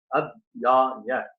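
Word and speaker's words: अध्याय: Again I told you, in order to be very brief, in order to just compose 8 syllables per quarter, the word Adhyaya having 3 letters, Ad-ya-ya.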